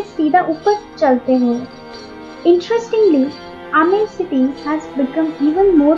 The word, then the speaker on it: आमेर: Moving on टू the next top tourist attraction of Jaipur, Ambar fort pronounced as आमेर sits on अ टॉप of small hill and is located at a distance of 11 kilometres from the main city.